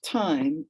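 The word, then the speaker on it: thyme: ending to that life it's called time but it's spelled t-h-y-m-e time she heard it helped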